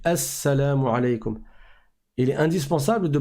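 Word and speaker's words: السلام عليكم: flemme qui va donc le LEM ne va pas se prononcer parce que le signe est une lettre solaire on en parlera dans les cours d'arabe sur la chaîne arabe simplement inch'Allah après avoir parlé des lettres on parlera des lettres solaires et lunaires donc ça se ça s'écrit elle salam aleykoum mais ça se lit assalamu alaykoum il est indispensable de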